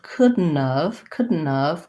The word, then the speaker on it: couldn't've: And then adding of, couldn't've, the T kind of just drops off. So I have couldn't've. The N doesn't really have much of a syllable.